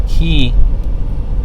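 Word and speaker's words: quay: down at the at the key which is spelled qay which is another word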